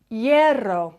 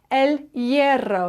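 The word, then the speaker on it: hierro: La M La M ELO bit of a tricky one to pronounce this one yeah ELO the H at the beginning of the word is silent and then you've got that double r well EO l ero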